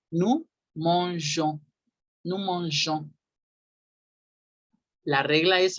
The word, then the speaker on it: nous mangeons: Agregan una E antes de la terminación ONS para que ahora sí diga, ahora sí se haga el sonido de je y ya se diga, se pronuncie nous mangeons, nous mangeons.